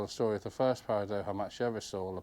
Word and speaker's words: Paradoja: You've heard of, oh, I'm going to try and say it, Paradoja, Doha, because the Mexican normally J's pronounced H, so Paradoja.